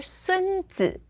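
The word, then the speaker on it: 孙子: So here, 孙子, that's first tone, fifth tone.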